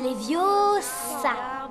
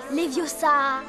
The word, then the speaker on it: Leviosa: même pas le prononcer c'est leviosa et pas les vieux ça fais le toi puisque